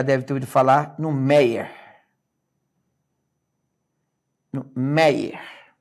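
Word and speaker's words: Méier: falar no meer meer repara na palavra meer ela é palavra paroxítona olha aqui ó Mei meir é aqui que eu separo Arnaldo mas na palavra mei esse Ei não é de tongo aberto cuidado Repara bem ele parece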